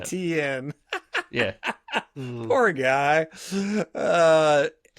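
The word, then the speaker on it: Etienne: And he eventually just said, just say it how it's spelt. And that's how ETN came out. ETN.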